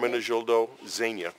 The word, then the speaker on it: Ermenegildo Zegna: And how do you pronounce that again? That's a great Ermenegildo Zegna.